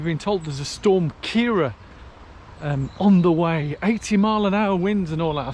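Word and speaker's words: Ciara: I watch the news, they say Storm Kira. Now I know everybody pronounces names different ways, but when I saw the spelling, here's a word for you. How would you say it? It's C-I-A-R-A. But from my Italian bringing, C-I-A-R-A is Chiara, so it's Storm Chiara.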